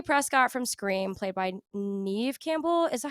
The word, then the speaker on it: Neve: Sydney Prescott from Scream, played by Neve Campbell. Is that how you say it? I never knew.